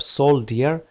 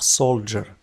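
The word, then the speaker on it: soldier: نفس الشيء مع السولر فهي تكتب سولدير لكن تنطق سولجر جندي الاقتصاد علم الاقتصاد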